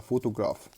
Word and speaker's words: photograph: creativity صورة فوتوغرافية photograph طبعا البي اتش نطق اف تبقى photograph خيال imagination شكل أو مجسم figure صورة image اللي هي صور.